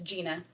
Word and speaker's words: Jena: I know it's spelled a little funny, but it is Jena.